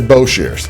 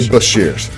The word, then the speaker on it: Boshears: You said Boshears. I always say Boshears. You were putting the emphasis on the first syllable.